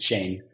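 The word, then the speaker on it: Shein: second largest e-commerce application Shen um some might pronounce it Shane um and within that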